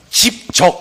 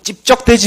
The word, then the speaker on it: 집적: 그러니까, 집적, 이렇게 하셔야 돼요. 이 발음 좀 힘드시는 분들은, 야, 자꾸 찝적대지 마 할 때, 된소리 발음을 약화시키면 돼.